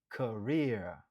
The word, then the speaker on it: career: Prononciation c'est career. Li gen 2 syllabes. Nou accentuer sou deuxième nan. Rare. Career.